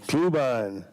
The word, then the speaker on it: Klubine: Klubine. Klubine rhymes with glühwein.